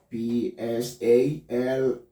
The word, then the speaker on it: psalm: The P will be silent. Consider this word P-S-A-L-M. Psalm, not psalm. The word will be psalm.